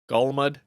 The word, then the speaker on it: Golmud: we land ourselves on Golmud Raceway that's how you say it Golmud we got looks like